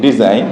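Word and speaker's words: design: যদি আমরা দেখি এখানে রেন শেষে কি আছে উচ্চারণ হয়নি এর যদি আমরা দেখি ডিজাইন ডিজাইন নই আছে কিন্তু উচ্চারিত হয়নি এই থাকার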